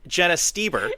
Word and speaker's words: Stoeber: I know it is spelled weird, but it's Stoeber.